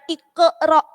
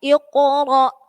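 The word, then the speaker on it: اقرأ: Jadi bukan ikro, tapi ikoro, ya. Ikoro, enggak ada ikro, ya.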